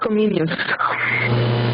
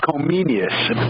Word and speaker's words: Comenius: Comensius? John Amos Comenius. Comenius.